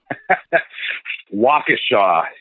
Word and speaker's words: Waukesha: Waukesha is the correct pronunciation.